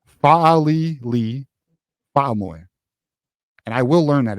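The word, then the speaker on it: Fa'alili Fa'amoe: It is pronounced Fa'ali Lee Fa'amoy.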